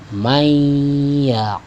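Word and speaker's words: مَنْ يَقُولُ: Yang tadinya man ya, yaqulu, ketika dibaca ya kita dobelkan, tasydidkan, ya tekan sedikit, ya sehingga berdengung, ya. Mayyaqulu, sekali lagi, mayyaqulu, sekali lagi, mayyaqulu.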